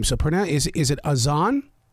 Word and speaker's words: Az'an: of people are always asking me how to pronounce my name so pron is is it Aon it's aan a z a n I love the way